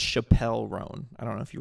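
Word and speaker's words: Chappell Roan: I listen to like chapel rone and like pain of Truth and big ass truck Chapel R's new metal it's first of all it's pronounced Chappelle rone I don't know if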